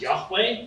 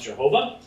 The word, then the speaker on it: Yahweh: In the Old Testament, the divine name used this one true God is Yahweh. Sometimes you hear it pronounced Jehovah.